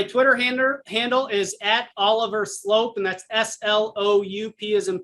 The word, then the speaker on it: Sloup: My Twitter handle is at Oliver Sloup, and that's SLOUP as in Paul. Looks like Sloop, pronounced Slope.